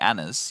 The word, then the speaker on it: Anders: Anders is meant to be Annas. You don't say That's true, yeah. No, the Danes do swallow the D. The D is silent, yeah.